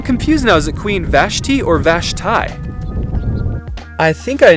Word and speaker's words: Vashti: Is it Queen Vashti or Vashti?